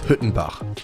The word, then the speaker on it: Huettenbach: How can you give me the honest how you pronounce it? Huettenbach.